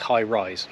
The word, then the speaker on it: High Raise: it's highrise High raise it's spelled High raise but it's highrise okay weird I don't